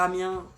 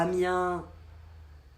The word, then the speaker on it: Amiens: d'envoyer un cadeau sur Amiens, ville natale de Macron. Oh non, il va l'envoyer à Macron directement, pas à Amiens. On dit pas le S, d'après ce que j'ai compris.